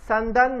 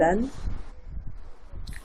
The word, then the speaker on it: senden: Senden ne haber? How about you? And Sandan.